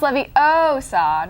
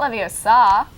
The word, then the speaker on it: Leviosa: It's pronounced Leviosa, not Leviosa.